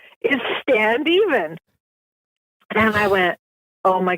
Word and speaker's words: Standeven: I hadn't realized that my last name stand even and that's actually how you pronounce it is stand even and um my husband